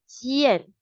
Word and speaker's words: 见: G plus N would be 见.